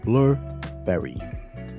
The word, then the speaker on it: Blubrry: Next one is Blubrry. It's spelled Blubrry.